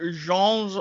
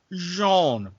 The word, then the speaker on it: genre: all kinds of different genres of music and yes as the late great alex trebek taught us it is pronounced jean not genre mad respect but for